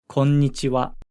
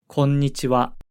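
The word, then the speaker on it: こんにちは: would say konnichiwa konnichiwa make sure to clearly pronounce the um sound in the middle if you already know hiragana notice that we pronounce the ha character as wa at the end of konnichiwa how would you say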